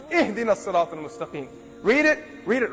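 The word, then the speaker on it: اهدنا: You better not say, Ahdina as-sirat al-mustaqim, otherwise I'm going to pound you. It's Ihdina as-sirat al-mustaqim.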